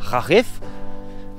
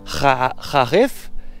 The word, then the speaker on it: Kharif: C'est qu'est-ce qu'ils ont la saison, ce qu'ils appellent le Kharif, qu'on prononce, je crois, comme ça, Kharif. Kharif.